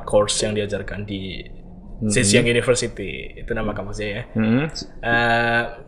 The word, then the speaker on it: Zhejiang: Kalau pronunciation-nya tuh di China Zhejiang University.